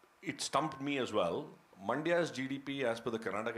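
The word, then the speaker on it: Mandya: in that district but it also rhymes with India there's a district called Manda in Karnataka and uh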